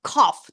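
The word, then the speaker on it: calf: вмкнений хух ввимкнений а каф теля не вистачає букви Л яка в нас нема яка не вимовляється тут але пишеться щоб заплутати таких як я lobst Лобстер Ну мені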